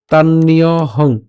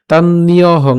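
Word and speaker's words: তান্যহং: আসতেছে তা সাধারণত আমরা এভাবে বলি না আমরা উচ্চারণটা করব এভাবেই তাহলে তাননিয়হং তাননিয়হং ঠিক আছে তাননিয়হং একসাথে তানহং বেদ সরবানি এফটা আগে উচ্চারণ হচ্ছে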